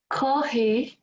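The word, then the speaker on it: kōhī: consonant the japanese consonant for an f is much closer to an h so the word for coffee sounds like this so it's still copied but we've we've kind of stopping the f into an h and okay so i'd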